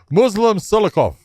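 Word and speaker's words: Muslim Salikhov: Muslim Silikov.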